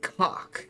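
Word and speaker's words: caulk: I think it's pronounced cock. But I'm not sure. C-A-U-L-K. Cock. We're just having fun today.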